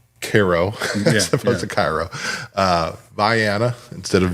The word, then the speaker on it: Vienna: trying to trying to learn even how to pronounce Koo opposed to Cairo uh Viana instead of Vienna you know all of these things several of